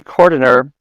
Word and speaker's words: Cordiner: So you mentioned that your mentor, Lee Cordiner, am I pronouncing his last name right?